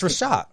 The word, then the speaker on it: Reshat: It's Reshat.